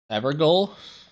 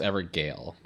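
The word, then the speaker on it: Evergaol: Everole is clearly pronounced Evergale.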